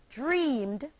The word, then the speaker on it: dreamed: The next example, the verb dream, dream, becomes the past tense verb dreamed, and is pronounced dreamed, having only one syllable.